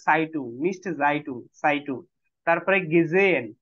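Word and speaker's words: gesehen: মিস্টে জাইটু সাইটু তারপরে গেজেন গেজেহেন না হ আমি কখনোই পড়াই না এজ সাইলেন্ট গেজেন আচ্ছা আচ্ছা তাহলে হ্যাঁ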